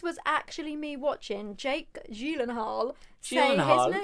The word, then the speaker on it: Gyllenhaal: gyllenhaal because that's actually don't tell me it's gailan hall no because it's actually swedish apparently there's only one person who isn't swedish that's pronounced it right and that was conan o'brien when he was on the conan lebron show that i watched it's actually julen hall you are actually joking